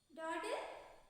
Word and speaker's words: dawdle: Dawdle.